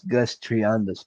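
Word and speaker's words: Gus Triandos: the orial yeah that's uh that that that's Gus triandis by the way the guy after Herzog but go ahead that's how he's pronounced go I was just taking a drink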